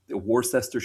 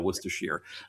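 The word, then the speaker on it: Worcestershire: in New England is because of the the city Worcester and so then it's just you just add shear on the end and you've got it you know worcers shear um but like here in Pennsylvania they pronounce it Warcester.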